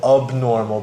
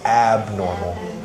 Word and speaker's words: abnormal: And then pronunciation-wise, you said abnormal, but it is abnormal.